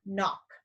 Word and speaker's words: knock: write the word knock what letter do you not hear in the word knock the K or the N now our K is our silent letter so when we see words that have K and together the K stays silent and the N is the one that makes the sound kind of like when